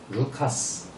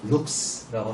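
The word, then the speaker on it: Λουκᾶς: 누가의 원래 발음은 루카스 또는 룩스라고 합니다.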